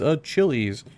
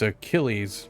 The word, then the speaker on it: Achilles: was like who is a Chili's and Alex trc's like nope I'm sorry or you got to pronounce it right dumbass it's Achilles that's it's kind of